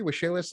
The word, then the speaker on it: Waxela: Did I pronounce that correctly? Waxela?